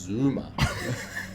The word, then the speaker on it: Zuma: no we wouldn't talk about that this is pronounced zuma anyway getting back to what i was saying